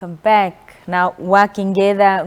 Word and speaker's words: Uakengeza: It's actually Uakengeza. Uakengeza. Yeah. Why do you pronounce it like that?